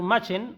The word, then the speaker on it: Machen: El primer autor recomendado es Arthur Machen, o Arthur Machen, algunos lo pronuncian de esa forma, que por supuesto inspiró